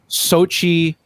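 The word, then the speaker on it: Xochitl: about america chavez chavez america chavez played by sochi i i learned how to pronounce this yesterday gomez yeah what what a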